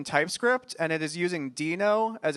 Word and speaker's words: Deno: And in fact, Deno is the syllables of Node backwards.